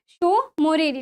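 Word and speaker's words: Tso Moriri: एंड हमारी कौन सी शो मोरेली ठीक है तो ये शो वाले जो टीए शो साइलेंट है आपका जो टी साइलेंट है आप क्या कर सकते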